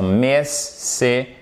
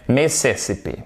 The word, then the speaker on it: Mississippi: Mississippi. Ok? Mississippi. Mississippi. Non. Mississippi. Mississippi. Et oui, accent tonique ici.